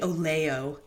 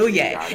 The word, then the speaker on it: Oloye: Oloye. It's kind of like, no, it's not. I was going to say it's like aloha, but it's not.